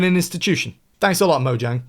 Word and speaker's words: Mojang: Thanks a lot, Mojang. Actually, it's pronounced Moang cuz it's Swedish.